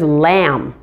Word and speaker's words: lamb: there are several other common words ending in mb where the final b is silent first there's lamb which is the animal